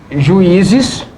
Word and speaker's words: juízes: Por exemplo, a palavra juízes e a palavra açaí. Juízes, juízes. tá claramente que a sílaba tônica aqui é o I.